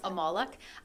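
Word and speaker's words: Molok: can you just expand accept what how you pronounce it of course yes to the amalek um so it's m-o-l-o-c-k they became quite popular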